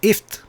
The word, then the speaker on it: gift: Interesting thing in Swedish, G is silent. It's kind of like in Turkish. I was telling you about my student. Interesting. Okay. Yeah, so it's not gift, it's ift.